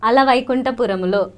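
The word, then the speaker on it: Ala Vaikunthapurramuloo: No, because that's how I pronounce it. Like. Alavaikuntapuramulo.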